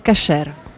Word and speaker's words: kosher: Acquisiscono lo status koser la differenza tra koser e caser è la stessa parola in pronuncia differente Che cos'è la cucina